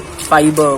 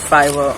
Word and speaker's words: Fiverr: I am pronouncing it like fiber, but it is Fiverr.